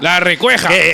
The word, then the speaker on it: La Recueja: La Recueja! People will pronounce that name like that. La Recueja, of course.